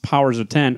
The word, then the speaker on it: Powers of X: RB Silva well illustrate powers of X which is pronounced powers of ten excuse me evoking the Roman numeral color a smart a